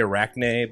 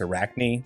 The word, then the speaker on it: Arachne: I always say Arachne, but I think it's Arachne. That's how it's pronounced. It only has one E.